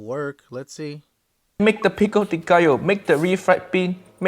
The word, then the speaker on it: pico de gallo: me about the fillings then you've got a Pico de color which is basically pico de gallo great pico de gallo say after me kids pico de gallo you're gonna pick them